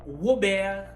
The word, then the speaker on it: Robert: R plus O comme dans Robert. Là, on prononce le R comme W. Donc, ça donne Robert.